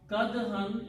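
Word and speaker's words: كدحا: Kadhan is this word. Okay. Originally it's a kadhun, it's a noun. When noun comes after the word, which is the verb, then it is pronounced as a kadhan.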